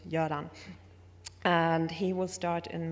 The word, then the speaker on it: Göran: Quite funnily, many think he's from the Balkans because of his first name, which many think is pronounced Goran, but he's actually from Sweden. His name is pronounced Göran.